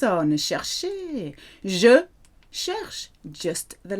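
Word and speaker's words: cherchent: And the last one, il, elle, on, sounds like the first three, cherche, but spelt with that silly, silent ENT.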